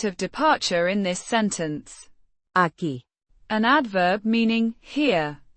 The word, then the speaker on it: aquí: In this sentence aki, an adverb meaning here pronounced a with stress on the second syllable.